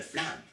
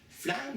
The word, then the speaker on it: flam: Flamme, si on analyse rapidement, c'est une syllabe. Flamme, ça se dit d'un coup. Par contre, il y a FL, FL, puis il y a AM à la fin. Donc, flamme. C'est comme si on avait deux syllabes cachées dans une seule syllabe.